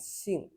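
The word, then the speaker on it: 性: But in Chinese, surname and nature sound the same, both pronounced as xing, as you can see from the response here.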